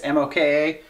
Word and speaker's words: moka: is awesome and it's called a mocha pot i believe is how you say it it's moka anyways we love using this